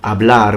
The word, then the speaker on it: hablar: Also because, even if there is no P, because I say parlare and they say hablar with the H that is not pronounced in Spanish, and it's not pronounced in Italian either, I can still make